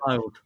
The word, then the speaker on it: Fylde: And the winner of Kidderminster of Boston will play FC Fylde or Fiddle. I don't know how you pronounce that. Fylde, yeah.